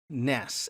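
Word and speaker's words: נס: word for banner and the Hebrew word nes, N-E-S, we would pronounce it.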